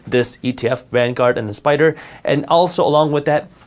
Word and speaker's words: SPDR: They're pronounced Spider.